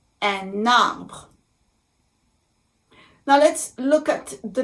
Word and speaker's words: un arbre: So think of an imaginary line that is going from the letter N in the article un, and it's going to be attached to the vowel a at the beginning of the word arbre. So I call it liaison. And it's as if it were a one word.